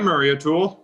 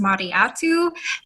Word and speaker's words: Mariatu: Actually, my name is pronounced Mariatu. The L is silent.